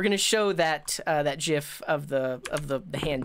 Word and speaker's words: GIF: close the stream because I say jiff with a soft G loading I need a